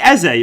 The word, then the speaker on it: Eze: Eze, it's pronounced.